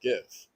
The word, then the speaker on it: GIF: There was like, actually, it's pronounced GIF, and he was like, no way.